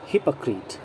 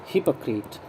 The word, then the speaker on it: hypocrite: Our word is hypocrite. Hypocrite, okay? Pronunciation पर ध्यान दें आप। Hypocrite, hypocrite, जल्दी से क्रिट बोलना है, hypocrite।